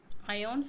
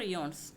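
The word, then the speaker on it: IONS: അയോൺസ് ഓർ ഇയോൺസ്, either way you can pronounce.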